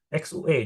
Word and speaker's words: xue: Jadi, U-nya ini titik dua. Jadi, eh entar dulu nadanya bukan nada 3, nada du XUE. Jadi, X U ya. U itu tadi ya cara bacanya Irma. Cara bacanya itu kamu ngomongnya U tapi suaranya I. I jangan I. I. Mulutnya itu harus agak monyong harus I gitu.